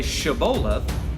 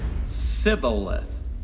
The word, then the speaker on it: Shibboleth: a cereal fruit, but the Ephraimites couldn't pronounce the Hebrew letter Shin. So where a man of Gilead would say Shibboleth, a man with Ephraim's pronunciation and dialect would say Sibboleth.